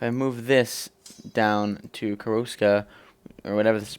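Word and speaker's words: Koroška: If I move this down to Koroska, or whatever this is pronounced, Koroska, yeah, I was right, okay.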